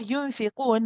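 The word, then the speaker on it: يُنفِقُونَ: Then we have yunfiqun. Now with this one we have a noon followed by the letter fa. We have a ikhfa haqiqi here. The noon sakin followed by fa.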